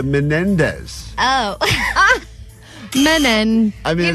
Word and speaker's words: Menendez: was saying bada bada you're also missing a syllable in the last name of men of all the names that she gets wrong this one I'm literally saying they're right Mendes the Menendez oh men I mean